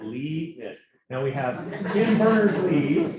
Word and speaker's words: Linus: And he basically says it depending on which language. He's in 3 different ways. But my favorite way is the actual Swedish way, which he is. And guess how you pronounce it? Linus. Linus. Are you catching that?